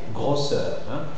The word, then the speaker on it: grosseur: Et finalement, les mots dérivés des mots qui se terminent en O-2-S-E. Les mots qui se terminent en O-S-E, 2-S-E, et qui dérivent de ces mots, alors on les prononce aussi fermés. C'est le cas des fossé et grosseur.